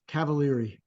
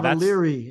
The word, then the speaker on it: Cavaliere: Best is Cavaliere. Yeah, Cavaliere is the easiest one. That's the American version. But you got to go with the Italian, right?